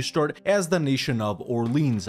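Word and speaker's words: Orléans: as the nation of Orleans I know it's pronounced Orly on I'm not going to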